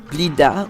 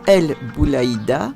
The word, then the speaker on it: Blida: Blida ou El Boulaïda sont 2 façons correctes de prononcer la racine trilitère à 3 consonnes.